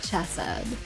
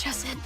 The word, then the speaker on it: Chesed: It's Chesed. I'm sorry. It's like Hesed or something. God, that sounded terrible. I'm sorry. It's not pronounced like ch. It's heh, but I can't do it right.